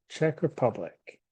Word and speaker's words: Czech Republic: this one is the check Republic the Czech Republic okay this one is spelled a little funny really it it sounds just like this the check bruh public Czech Republic that's it for republic all